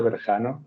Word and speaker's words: Berjano: francisa dberto and Victor my name is Verano as Victor very nicely pronounced and I'm an orthopedic